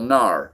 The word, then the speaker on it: Gnar: lower up-and-coming designer will gnar okay and his narcotic clothing line okay G an AR as in ganar okay silent G okay so that's a